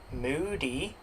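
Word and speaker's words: Mudi: Yes, there is a dog breed called the Moody which is pronounced Moody.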